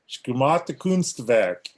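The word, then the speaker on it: Gesamtkunstwerk: It's called Schemate Kunstwerk.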